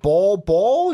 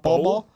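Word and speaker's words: Bol Bol: Grizz going with Dave ball ball I said that right ball ball not bolo Bulbul just want to make sure I'm saying it right ball ball D Center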